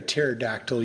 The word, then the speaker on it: pterodactyl: foreign yes Mr Brown why can't you hear a pterodactyl using the bathroom that is not a land use question the p is silent out of order